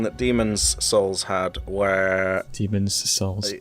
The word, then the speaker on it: Demon's Souls: demons souls had where demons assaults yeah that's that's how you say it that's how you say it because that's where the apostrophe is um yeah in demon's